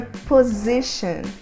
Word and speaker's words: position: no espaço aéreo e a forma correta de pronunciar posição é position position aqui a letra T vai ter um som de X position eu vou exemplificar